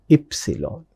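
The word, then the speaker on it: Ypsilon: In English we call it as Y. In German we pronounce it as epsilon.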